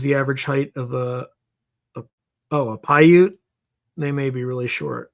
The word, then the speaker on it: Paiute: Paiute is, I'm going to spell it phonetically like I would in the military. Papa, Alpha, India, Uniform, Tango, Echo. Paiute. Paiute.